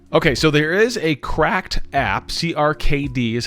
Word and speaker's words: CRKD: controller is connected okay so there is a cracked app CKD is how you find it that's how that's spelled I'm going to install it on my